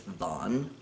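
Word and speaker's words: thon: of the right pronunciation I think it's Vaughn th o N which I believe is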